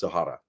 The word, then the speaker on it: Zahara: But yeah, like in Zahara depends what region you come from, where you say it. I believe it's actually pronounced Zahara.